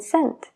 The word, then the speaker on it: cent: una E, como en cent, de céntimo, centimeter, centímetro, since, desde. Todas estas palabras tienen una C y E, entonces la C se pronuncia como una S.